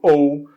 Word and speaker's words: owe: é o verbo To ou to ou significa dever Ok a pronúncia ou n como se fosse um o u no português ok sou Então a gente